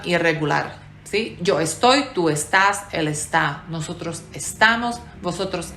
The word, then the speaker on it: estás: estáis ellos ellas están lo irregular en este verbo es el acento que no queda en la penúltima sílaba como en el verbo hablar yo hablo tú hablas el Habla tú estás él está o sea se mueve a la última sílaba en la segunda y en la tercera persona del singular y el último verbo